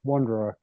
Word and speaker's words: Wonder: Hey, how do you pronounce your last name? He's beautiful. Last name is pronounced wonder.